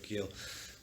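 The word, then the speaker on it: Geel: gone to belgium to a town called gill spelled without the h-g-e-e-l um and she'd gone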